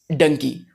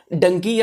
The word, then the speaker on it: डंकी: पिछले कुछ दिनों से एक टर्म बहुत जबरदस्त तरीके से चर्चा में है, डंकी। कुछ लोग डोंकी भी बोलते हैं, डंकी या डोंकी। मैं डंकी प्रोनाउंसिएट करूंगा।